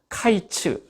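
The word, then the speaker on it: קיץ: 통틀어서 뭐라고 얘기하는 요 카이츠 라고 발음을 하고 카이츠 란 말로 표현을 합니다 그런데 이 언어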